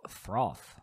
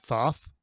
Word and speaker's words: Thoth: is the scroll of froth isn't it thoth oh thoth yeah there is no r in there i'm not sure why i pronounced one i just like the